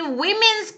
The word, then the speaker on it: women: A 19th century women's college. 얘들아, 이거 읽을 때 women이라고 읽어주셔야 돼요. woman 아니에요.